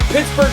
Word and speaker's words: Pittsburgh: Uh Pittsburgh Pittsburgh Pennsylvania is the right way to say that.